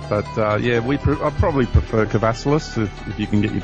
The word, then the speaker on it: Kavassilas: And I realize I've been mispronouncing your last name. It's Kavassilas, so I apologize.